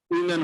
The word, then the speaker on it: women: একটা আজকে স্পিকিং না, উইমেন হবে উচ্চারণ এটা, আর যদি সিঙ্গুলার হইতো তাহলে উমেন, ঠিক আছে?